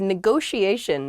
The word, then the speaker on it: negotiation: is negotiation negotiation yeah there are two t's in this but neither t is a hard t they're both very soft that sh sound because they're followed by the i and another vowel that she a negotiation